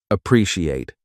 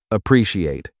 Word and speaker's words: appreciate: The pronunciation appreciate. Four parts. A pre sai at appreciate.